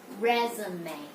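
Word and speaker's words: résumé: lot of you still don't know how to pronounce this so this is resume resume and we say resume now this is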